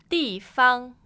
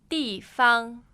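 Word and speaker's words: 地方: So again, the pronunciation, please. 办公室。 So office. 办公室。 The office. Good. Next one. 地方。 Place. 地方。 Place. 地方。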